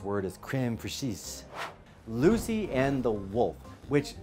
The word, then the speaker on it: crème fraîche: Pretty quickly, this place has moved toward the top of my list, and I'm now being told that my mispronounced word is crème fraîche.